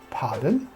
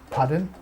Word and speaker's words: pardon: I beg your pardon many people say it like paddle paddle when I came to England it took me a while to understand that they meant pardon you would not normally use